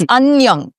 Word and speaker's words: Annyeong: It's Annyeong. See. So Annyeong is the informal way, and the formal way is Annyeong.